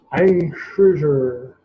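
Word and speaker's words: Kreuzer: Ein Cruiser. That's how you pronounce it.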